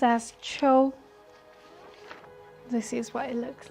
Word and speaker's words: 秋: Pronounced as Cho.